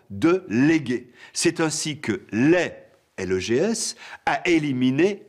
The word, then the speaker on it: legs: patrimoine que l'on transmet doit-on dire un legs ou un lait il convient de prononcer l'est pourquoi ignore-t-on la consonne g parce que cette graphie